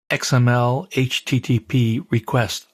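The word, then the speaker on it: XMLHttpRequest: Now, the way to pronounce this, of course, is XML HTTP request object.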